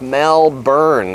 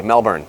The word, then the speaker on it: Melbourne: Melbourne I mean Melb oure and E is pronounced Melbourne if I say it differently it's not said that way Melbourne did I say it enough behind me is